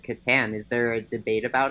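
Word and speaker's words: Catan: official pronunciation or is I believe it's Katan um I interviewed the uh CEO of Katon Studios and he said Kat so I figured if he called it Katon that's probably right that is probably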